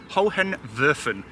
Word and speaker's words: Hohenwerfen: So the castle that you see in the background, or the fortress, or whatever you want to call it, is pronounced Hohenwerfen.